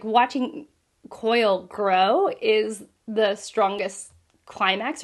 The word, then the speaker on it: Quoyle: I think it's actually pronounced Coyle, even though it's Quoyle, Coyle, who, you know, it's just, he's kind of an odd person.